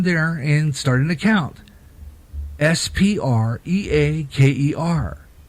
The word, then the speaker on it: Spreaker: and start an account SPR EA ke R spelled like speaker only there's a are in there SPR EA ke er